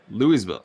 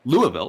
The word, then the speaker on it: Louisville: so through five dillo's four louiseville louisville pardon me three i know how to pronounce it don't at me